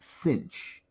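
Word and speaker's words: sinh: is often abbreviated s i n h and pronounced cinch. Yes, I know there's no c there. Uh that's just the way it's pronounced. Kosh and cinch of x.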